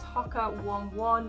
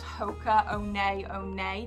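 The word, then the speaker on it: Hoka One One: can see here it says hakka 1-1 but they are a new zealand-based brand and i think oh god this could be wrong but i think it's hoka one a one-nay that it's actually pronounced like i just call them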